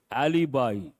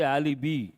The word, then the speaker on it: alibi: evidence witness and there's one important word word Alibi people mispronounce this they say alii no alibi Alibi means false evidence write the